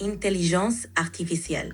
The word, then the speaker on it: intelligence artificielle: In French, artificial intelligence is pronounced intelligence artificielle. Give it a try. Intelligence artificielle. Très bien. Your pronunciation is great. Just remember to keep the R in artificiel soft.